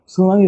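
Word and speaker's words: tsunami: হয় প্রচুর সেটা হচ্ছে কিছু কিছু বানান যে বানানগুলোতে আমাদের প্রথম অ্যালফাবেটটা উচ্চারিত হয় না যেমন সুনামি বানানে কিন্তু টি সুনামি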